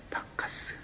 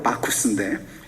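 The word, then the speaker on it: Bacchus: 여러분 다 들어봤을 거예요 박카 스 원래 발음은 마커스인데 한국식으로 하면 박카스 뭔지 아시죠 맛있는 거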